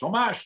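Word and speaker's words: Tomáš: on the air now everybody wants to be tomasz tomash to targe they liked it better because chats loved when i said his name tatar so you know you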